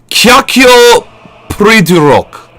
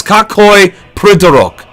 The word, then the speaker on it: Какой придурок: Kakyo Pridurok. It's Kakoi Pridurok.